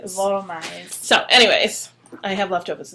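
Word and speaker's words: Wollmeise: As Steve at Dramatic says, let's see, it's Wormize, because it's the W is pronounced V, the O is like as in dog, and the L's are actually pronounced like R's in Spanish. It's more like Volmize.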